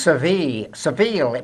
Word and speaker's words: Seville: Pronounced Seville by the British. Yes. But it's pronounced Sevilla in Spanish. Yes. So Well, they call it Seville. and today we call it Seville, anglicizing the name entirely.